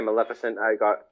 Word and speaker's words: Maleficent: Maleficent? Yeah, Maleficent.